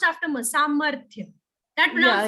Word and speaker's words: सामर्थ्य: Samarthya. That Yeah, pronunciation yeah, is not going to change.